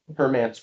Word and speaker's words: Hermance: that came up was, do you pronounce it Hermance or Hermits? Park? Hermance Park, yeah.